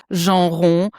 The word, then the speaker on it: Jean: I'm French originally, so which is pronounced Jean, but I live in Germany.